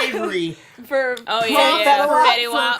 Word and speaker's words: Fetty Wap: Avery, for Oh yeah, for, Fetty Wap. for correcting Bowman on Fetty Wap. Fetty And Wap. he said it right. He was like, "No, that's Fetty Wap."